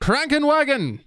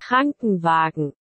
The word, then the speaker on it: Krankenwagen: Crankenwagon. Am I saying that right? God, how else could I pronounce it? My dumb American accent. Krankenwagen. Google translate this. Krankenwagen. Hey guys, I figured it out. Krankenwagen.